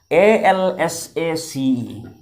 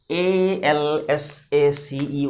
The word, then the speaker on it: Alsace: A-L-S-A-C-E. A-L-S-A-C-E, one French district. Many people pronounce it as Alsace. I also used to pronounce it like this, but its pronunciation is Alsace. This S is pronounced as Z.